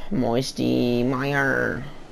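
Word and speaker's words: Moisty Mire: land on hello short then moisty Meyer rhymes with Michael Myers hey I'm a knock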